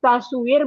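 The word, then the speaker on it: تصوير: burung atau eh, eh, tas tas suar foto tasu ta, ini ta su ta, taswir bacanya Ustaz apa Ustaz ini Taswir, bacanya betul.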